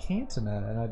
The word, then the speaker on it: Candtuna: I keep saying Candtuna. That's how you pronounce it.